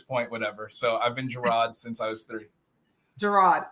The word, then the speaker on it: Jarrod: called much worse um I pronounce it gerro funny story my mother